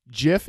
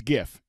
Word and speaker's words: GIF: way the people in the chatter saying it's pronounced jiff it's gif they're gifts I don't care who says otherwise